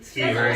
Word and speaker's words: Skeever: Right, that's how you pronounce it. Skeever, yeah.